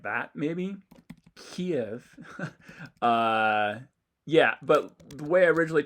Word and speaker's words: Kyiv: We can compare it to the Kyiv pronunciation, in which there's clear aspiration, about 83 milliseconds of aspiration. Kyiv.